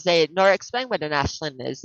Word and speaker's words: Aisling: Celtic um prophetic dream I proceeded um it's pronounced Ashland yeah it's Ashley Ashley yeah of course it